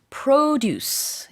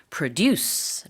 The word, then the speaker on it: produce: 거는 농작물 농산품을 말하는데요이 발음이 명사일 때는 produce 이렇게 발음을 하고 동사로 우리가 뭔가 생산하다 할 때는 스펠링이 똑같지만 발음은 produce 합니다 그래서 뭔가 만들어내는